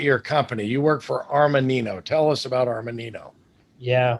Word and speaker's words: Armanino: You work for Armanino.